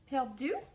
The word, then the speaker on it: Perdu: So Nina George weaves the tale about a man named, I pronounced it Monsieur Perdu, but it is P-E-R-D-U, and he owns a little Paris bookshop.